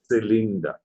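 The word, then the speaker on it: Zylinder: They are cylinder. Z is going to have a T sound. Going to say cylinder.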